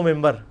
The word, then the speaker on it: منبر: ہوئی ہے, محراب و ممبر. ممبر کے سپیلنگ کیا ہے؟ منبر, لیکن پڑھا کیا جاتا ہے؟ کیوں؟ کیونکہ نون کے بعد, نون ساکن کے بعد با ہے, یہ نہیں ہوتا لکھا جاتا ممبر.